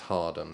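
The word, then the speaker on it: Hawarden: Thomas well it's pronated it's written Howard and or but pronounced Harden there's a lot of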